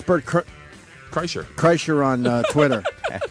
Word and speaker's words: Kreischer: going to be bad how do you say last name right yeah Cher and uh it's bir Cher Cher on uh Twitter